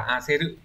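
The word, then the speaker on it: 焦る: Cái từ này ấy, ngoài cách đọc là cô ghê rự, có nghĩa là như vậy, thì nó còn đọc là a xê rự, có nghĩa là sốt ruột.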